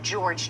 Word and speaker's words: Jorge: believe he pronounces it George Torres it's spelled like Jorge but um I believe he goes by George um how big of